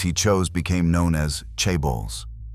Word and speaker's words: chaebol: The families he chose became known as Chibbles, pronounced Chai, meaning wealth clan in Korean.